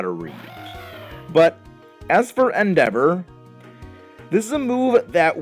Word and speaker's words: Endeavor: He learned Endeavor, or as I used to call it, Endevator. My brother and I, we used to pronounce Pokemon moves very, very poorly.